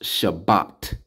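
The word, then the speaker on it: שבת: Sha B A that's ba ta t a Shabbat now let's see how they say it over here I guess since I'm concerning recording don't let me do it that's all right but it's pronounced Shabbat all right and we see right here look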